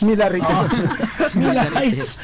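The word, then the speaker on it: Millerites: sektang ah millar rights ang spelling nito m i l e r i t s Kaya minsan ang pronounce ko dito m rites milar rites malapit-lapit nga Nam after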